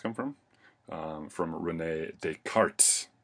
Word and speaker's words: Descartes: um and these are the cartesian coordinates where does cartesian coordinates come from um from rene descartes right descartes in french this is silent um and uh yeah